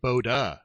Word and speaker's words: Bode: up so and so the further complication there is Hendrik bodis family pronounced it boda oh no oh there